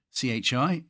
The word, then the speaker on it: chi: X, of course, is the Greek letter chi, C-H-I. I say pronounce it, is it?